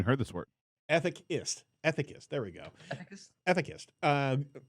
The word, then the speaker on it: ethicist: prominent ai at this uh can i never pronounce it a thick atheist ah ethics i've never even heard this word ethic ist ethicist there we go ethicist uh from ghouls she